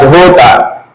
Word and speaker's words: jota: J in Spanish is not pronounced as J, it's pronounced as H. Okay? Am I putting here? It's pronounced as H. And if we call it's pronounced as Jota. Jota, J is Jota in Spanish.